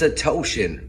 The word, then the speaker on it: Odeshian: Network, which is Phil Odeshian. It's a Toshin. Rhymes with lotion.